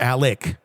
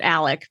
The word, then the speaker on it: Alex: latest on Alex or Alec that drives me nuts I know they pronounce it Alec but it's spelled Alex so I know I'm